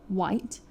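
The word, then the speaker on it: wight: Um and it's like coming from the word nowadays of white. Um which is w i g ht.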